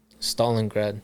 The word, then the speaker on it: Stalingrad: your mother is in and how do you pronounce um city in Russia again Stalingrad so your mother's in Stalingrad yeah in 1989